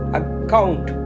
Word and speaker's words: account: உதாரணத்துக்கு ACCOUNT இந்த வார்த்தையை நம்ம எப்படி சொல்லணும்னா அக்கவுண்ட் என்று சொல்லணும். அந்த 2வது சீல தான் அந்த அழுத்தத்தை நீங்க கொடுக்கணும். அக்கவுண்ட் என்று 2வது கொடுக்கணும்.